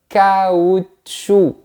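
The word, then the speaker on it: caoutchouc: On va découper ça. Le kaoutchou. On ne prononce pas la lettre C à la fin.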